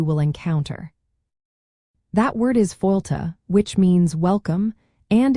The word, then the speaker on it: Fáilte: That word is fáilte, which means welcome, and it is pronounced fáilte. The sound is much softer than you might initially think, with the stress falling clearly on the first syllable.